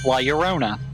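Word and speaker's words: Leona: awful and of course Laona to the tune of my shirona I'm talking about that sounds it's the only way I can remember how you're actually supposed to pronounce Liona I'm being I actually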